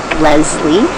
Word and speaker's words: Lesley: name is Leslie and my family always pronounced it with a z Leslie and uh and it